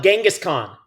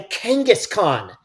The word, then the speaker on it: Kangaskhan: out hey it's a a Kangaskhan a Kangaskhan which sounds like kangaroo which is why you